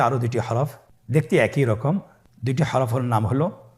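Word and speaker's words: ر: পরবর্তী আরও 2টি হরফ দেখতে একই রকম। 2টি হরফের নাম হলো র এবং জা। র এবং জা। র হরফটি এখানে আমরা পোর করে উচ্চারণ করব, মোটা করে উচ্চারণ করব, এবং র হরফটি এক আলিফ টেনে পড়ব।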